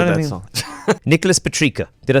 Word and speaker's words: Nicholas Petricca: Nicholas Petricca.